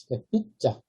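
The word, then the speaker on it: pizza: 삐자. 다만 이제 B 발음이 이제 된 소리로 발음이 나죠. P자가 아니라 B자 이렇게 발음이 나죠.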